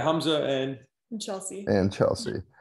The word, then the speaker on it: Hamza: Okay, so Hamza, and it is pronounced Hamza, correct? Yeah, Hamza and Chelsea.